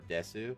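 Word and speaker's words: です: word it's Basu or Desu but they don't pronounce the U uh it's pretty common to kind of drop the u sound so Yas I think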